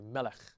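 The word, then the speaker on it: מֶלֶךְ: Those 2 dots is really a Shewa, and it's a silent Shewa because any Shewa at the end of a word is considered silent.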